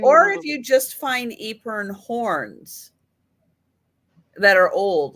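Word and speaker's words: epergne: I'm not going to say it right. Epern. Epern. Yeah. Epern. Although we kind of decided that we were going to start calling it an Epernay because we didn't like Epern. And we think it should be a little more French sounding.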